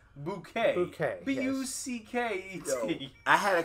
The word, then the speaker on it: Bucket: yeah and it was b-u-c-k-e-t and she they were like this is bucket and she's like no it's bouquet okay b-u-c-k i had